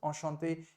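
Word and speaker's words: enchanté: with an extra ई लेकिन हां बोलते समय चाहे कोई मेल पर्सन बोले nice to meet you in French व्हिच इज अशांते या एक फीमेल पर्सन बोले nice to meet you विच in French ते it remains the same in terms of its pronunciation it is just the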